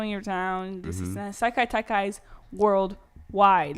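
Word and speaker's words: Sekai Taikai: Yeah, Saikai Taikai.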